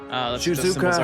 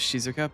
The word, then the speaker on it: Shizuka: Jizuka has already purified Fau Cayama's barrier. Three remain. There is no time to waste. Can we pronounce her name properly as Shizuka, please?